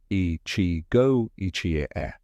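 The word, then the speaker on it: 一期一会: Okinawan culture embraces Ichigo Ichie, pronounced Ichigo Ichie, which means this moment exists only once.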